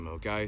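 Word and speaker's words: Milngavie: Even though I get told by Driverking that you actually don't see the Gelvive, as you can see it doesn't look like it's pronounced the same, but it's actually Melgai.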